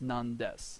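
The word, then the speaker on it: 何です: Notice how it's normally pronounced nani, however here it's non-des. Just because nani-des is annoying to say.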